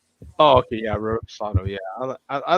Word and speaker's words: reposado: Espanol, Raspoda. How do you say that, Coach? I'm messing that up. Is my new go-to for tequila. About $20 for a real good tequila. He's trying to say reposado.